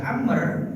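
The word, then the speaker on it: عمرو: Cuman untuk dibaca Amr dan Umar perbedaannya. Maka kalau Amr di ujungnya ada huruf waw. Jadi kalau habis ro ada huruf waw, itu Amr cara bacanya, Pak.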